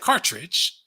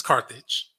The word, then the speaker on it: Carthage: He said Cartridge, but it's Carthage.